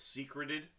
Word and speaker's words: secreted: it is not secreted it is hidden meaning secret so the word is pronounced secreted but because i can't